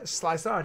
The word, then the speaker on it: Slysod: Is that how I say it? How do you pronounce that? Slysod, yep. Okay.